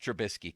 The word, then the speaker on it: Trubisky: Can't you just say into the mic, the Steelers have signed Mitch Trubisky? Could you do that for us? What makes you think I can pronounce his name?